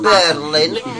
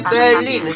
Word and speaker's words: Berlin: Heja i mówi tak, Berlin, nie żaden Berlin, tylko mówi się Berlin, tego R nie ma, bo jest zredukowane, jest ciut dłużej, Berlin, akcent na I, a więc to, co